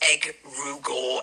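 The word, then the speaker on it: egregore: An egregor pronounced egg rugor egregor is a fascinating and ancient concept.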